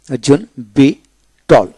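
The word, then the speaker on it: victual: আরো কিছু শব্দ আছে বি টল বি টল বি আই টি ইউ এল বি টল অর্থাৎ শব্দের মধ্যে টি এর পূর্বে সি থাকলে সির উচ্চারণ হয় না তবে এটি শব্দ সংখ্যা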